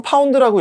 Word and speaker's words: lb: 질량을 킬로그램을 안 쓰고 파운드 매스 아니면은 슬러그, LB라고 쓰고 파운드라고 읽어요.